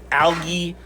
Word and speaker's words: algae: I also try these high algae discs, extra large. I said algae because that's how you say it in Europe, and this is from Europe.